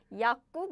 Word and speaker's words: 약국: However, we don't pronounce this way because if you pronounce it quickly, naturally you will pronounce like this. 약. No. Oh no, I deleted all the letters. It's okay. 약국, nah. No. This becomes 국 simply because this and this bumped, smashed, crashed. So the pronunciation becomes like 약국, 약국.